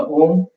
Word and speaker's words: Om: So the first two syllables of the mantra, Ah, U, as we exhale through the mouth, and the third syllable, when you chant the third syllable, when you close your lips, exhale through the nose.